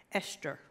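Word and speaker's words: Ishtar: It was I-S-H-T-A-R, but it was pronounced Esther. Sounds like estrogen, doesn't it?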